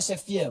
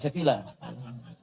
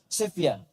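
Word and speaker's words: Sevilla: Ah itu ya Ah bacanya seevia bukan sevila sefia ya bacanya sefia ya Ah kayak Jose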